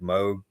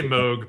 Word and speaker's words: Moog: Top one's Model D, modeled after the classic Moog. Well, I don't know how you say his name. I say Moog, but I won't correct you.